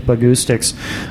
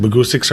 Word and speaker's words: Bahgoostyx: It just Bahgoostyx rhymes with acoustics.